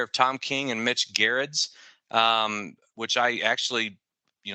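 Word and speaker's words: Gerads: Eisner award-winning pair of Tom King and Mitch Garretts um which I actually you know I think I've mispronounced his word for a long time now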